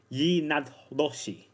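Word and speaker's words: yee naaldlooshii: You see, skinwalkers come from the Navajo culture, but it's not pronounced skinwalker to them. To them, it's pronounced Yi Nadloshi, which means, by means of it, it goes on all fours.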